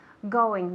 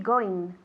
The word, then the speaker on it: going: Going, la N y la G. It's a nasal sound, okay? Viene de esta parte de aquí, going. Muchos españoles decís going. La G no la pronunciáis. And it's important to pronounce it because it's a completely different sound, okay?